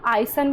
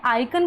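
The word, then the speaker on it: icon: यहां है आइकन। अब कई बच्चे इसको आइसन भी पढ़ लेते हैं। लेकिन ये आइकन पढ़ते हैं।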